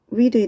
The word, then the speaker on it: read: 참고로 read의 동사 변화 어떻게 돼?